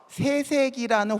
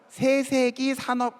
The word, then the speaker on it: 세세기: 인덱스 화면을 자체를 저희가 재조합을 해봤더니 오른쪽에 있는 것처럼 세세기라는 회사 소개서가 나와요. 세세기, 약간 된소리 발음을 하게 되면 욕처럼 들릴 수도 있기 때문에 세세기라는 표현이 나왔는데, 실제로 요거는 어떤 표현이냐면, 우리가 보통 4차 산업혁명이라는 표현 많이 쓰죠.